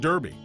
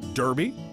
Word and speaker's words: Derby: Reporters asked Lord Derby, "Who has the pronunciation right? Is it Derby or Derby?" "Oh, either way is fine," he said.